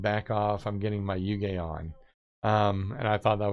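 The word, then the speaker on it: hygge: thinking about doing a design called, it's spelled pronounced yuge.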